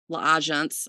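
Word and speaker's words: L'Agence: brands are mother frame La agents Legends La agents that's how you say it and it's always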